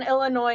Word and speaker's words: Illinois: isn't even that big the s in Illinois is silent also wait where's Philadelphia